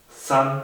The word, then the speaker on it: Zahn: La Z también se pronuncia como si tuviese una T en el principio, como Zahn se dice Zahn, der Zahn, que significa el diente.